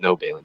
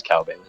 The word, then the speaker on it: Cal Balin: That's how you say it. It's not No Balin, it's Cal Balin.